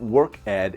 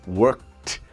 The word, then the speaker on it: worked: The pronunciation is not worked, it's worked.